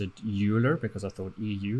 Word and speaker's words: Euler: xyz rotation which is called euler okay spelt e u l e r right uh so and for years and years i pronounced it euler because i thought eu like europe but no